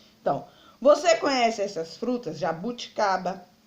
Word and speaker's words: jabuticaba: Jabuticaba, açaí, tâmara, caju, pêssego, carambola, certo? Olhando para essas frutas, você pode observar o jabuticaba. Ela é a penúltima sílaba, então ela é uma palavra paroxítona.